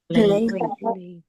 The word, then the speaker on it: played: Don't pronounce the e, only the d. Played. Played.